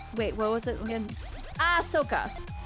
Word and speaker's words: Ahsoka: what was it again ah sooka it's Ah sooka that's that's the only way you'd pronounce it I'm pretty sure that's the right way to pronounce it I'm just saying okay